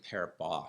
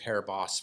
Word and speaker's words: Paribas: I think it's actually Paribas. Somebody told me the other day, it's like, don't pronounce the S. Anyway, I've been saying Paribas forever, so I'll just keep doing that.